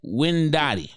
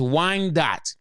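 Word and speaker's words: Wyandotte: the whole name up it is actually pronounced as Wine Dot so mortar City Kicks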